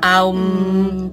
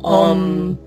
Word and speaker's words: om: om om om sí se puede pronunciar aum o om cualquiera de las dos formas que es el mantra